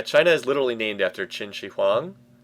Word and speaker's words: Qin Shi Huang: Yeah, China is literally named after Qin Shi Huang. It's literally named after him. Don't be fooled by the Q. The Q is pronounced like a CH sound in Chinese, as I understand it.